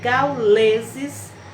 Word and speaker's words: gauleses: Então, quando pronunciamos a palavra gauleses, a sílaba tônica, lê.